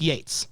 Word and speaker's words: Yeats: But it's still, no matter what circumstances happened, it's in the canon of the show that Pete Martell doesn't know it's pronounced Yates.